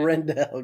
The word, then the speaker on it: Rendell: But yeah, You just have to Evan, remember like, it has to rhyme with hell. That's how I remember it as Rindell.